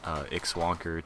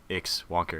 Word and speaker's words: ixwonker: And I would just tell them, like, at first I would just say, like, okay, it's just ixwonker, it's not ix wonker, and please don't just call me wonker.